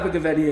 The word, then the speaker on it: Abergavenny: Well, you got Abergavenny in the end, so yeah. Abergavenny. Yeah, okay. Abergavenny.